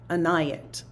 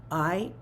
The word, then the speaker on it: Inayat: His first name was Inayat, and it's Inayat.